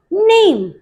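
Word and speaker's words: name: यहां पर देखिए, यहां पर हम इस ई को प्रोनाउंस नहीं कर रहे, क्या एसएच से बनता है श, ए प, शेप, न ए म, नेम, फ ए म, दैट इज फेम।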